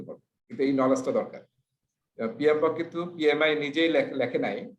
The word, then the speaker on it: PMBOK: এটাকে আসলে এমনি বোঝা যাচ্ছে PMBOK, কিন্তু এটাকে আসলে প্রোনাউন্সিয়েশন করতে বলা হয়েছে PMBOK। এই যে একটা আই মাঝখানে রাখতে হবে, PMBOK, ঠিক আছে, project management body of knowledge.